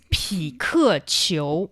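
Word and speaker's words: 匹克球: It's 匹克球. I think it's a very direct translation. Sounds like Pikachu.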